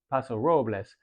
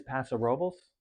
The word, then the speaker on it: Paso Robles: Technically, if you're pronouncing it in Spanish properly, it's Paso Robles. But I guess over time, the actual proper way to pronounce the region is Paso Robles. Like incorrectly, it's proper.